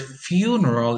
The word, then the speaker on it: funeral: The word funeral is stressed on the first syllable, but there is a stress shift when you have the adjective funereal.